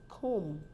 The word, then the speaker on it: comb: word you see that the B is not pronounced it's pronounced as comb comb it ends with the